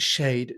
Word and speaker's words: Schaidt: You've been listening to Josh Shade. And by the way, his surname is spelled Schaidt. It sounds like a sort of a word scramble game, but it's pronounced Shade.